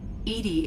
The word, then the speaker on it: EDI: Why are you named Edy? Edy is the phonetic pronunciation of EDI.